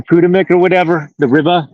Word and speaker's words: Potomac: So third and fourth to the neighborhood of where you at, even though you're across the Potawatomi, or how do you pronounce it? The Potomac, the Potomac, or whatever, the river right there.